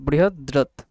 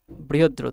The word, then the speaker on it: বৃহদ্রথ: আমি নামটা একটু বলে দিচ্ছি, বৃহা ইংলিশে লিখছে, হ্যাঁ প্রবলেম হবে না, বৃহদ্রথ, DRATH, বৃহদ্রথ আর কি বাংলায় যদি উচ্চারণ করো।